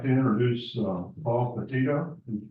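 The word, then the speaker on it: Peditto: U I'd like to introduce PA Patito how did you pronounce that I don't want to mispronounce it thank you Mr chairman and members uh yeah my name is I'm the assistant secretary for land resources at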